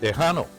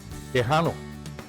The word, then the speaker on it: Tejano: Tejano. That guy's winning, by the way, everybody. Tejano. That's how you say Texan in Spanish. All the Hispanics that lived in Texas during the Revolution were called Tejanos.